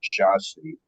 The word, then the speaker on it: Jassy: The city is called Iași, Romania, or Jassy, if you're, I guess, pronouncing it in English.